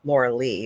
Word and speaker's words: Lorilei: it's spelled very strangely it's not spelled like Laura Laura Lee it's spelled like Laura Li but it is Laura Le so he calls me